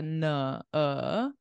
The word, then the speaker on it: Nanaimo: It's Nanaimo. So you were close with the stress, but for some reason we pronounce it as I, nai, nai. And then the beginning is like unstressed. So it's like a Nanaimo.